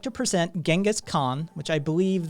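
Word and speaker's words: Genghis Khan: would like to present genas Khan which I believe the closer pronunciation is something like chingas gang something it's in that territory I've heard it pronounced correctly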